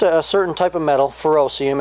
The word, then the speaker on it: ferrocerium: but it's just a certain type of metal furoseum it's spelled ferrocerium but what's cool about it is